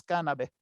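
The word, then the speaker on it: canabae: Estos centros cívicos se llamaban cannabé. Cuando encuentran una palabra latina que tiene la A y la e se pronuncia como si fuera una e. Entonces, cannabe.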